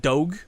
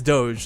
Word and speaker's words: doge: way to pronounce it like i've heard people pronounce it dog it's like like i've heard no i've heard people pronounce it doggy yep i've heard that too i've heard i'm